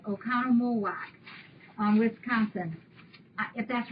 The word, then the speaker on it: Oconomowoc: The name of her city is an old Indian name, and it's pronounced Oconomowoc. I think I said it right. Oconomowoc, Wisconsin.